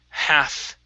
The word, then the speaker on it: half: And our last one is the word half. Instead of half, the L is silent.